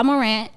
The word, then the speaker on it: Morant: Speaking of, Ja Morant, right?